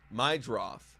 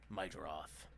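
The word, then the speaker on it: Meidroth: My droth. That's how you say it. My Myth. Chase myth. My droth. Sounds like my draws.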